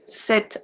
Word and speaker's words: cet: When a singular masculine noun only starts with a voyelle or a silent H, we are going to use C-E-T, set as well. Pronounced the exact same way as the feminine one.